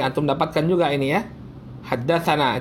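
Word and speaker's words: حدثنا: Haddatsana itu bacanya haddatsana. Na itu artinya bacanya haddatsana, atau sana bacanya juga haddatsana.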